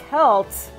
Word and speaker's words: Celts: are saying soaps iron it's actually pronounced Celts I believe salt is actually the incorrect pronunciation I'm pretty sure I'm I'm like 90% sure salt is actually a common like mispronunciation but it can be wrong